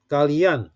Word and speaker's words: kalian: Okay, how about kalian? Same thing. Kalian is also 3 syllables. Kalian. Okay, the stroke is on the an or an.